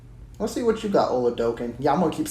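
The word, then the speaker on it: Oladokun: Oladokin, okay. I'm glad I heard you say Trent because I've been saying his name wrong this whole time. Oladokin.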